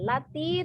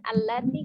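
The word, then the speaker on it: الَّتِي: Ini ada bacaan lati, tapi kita bacanya al-lati.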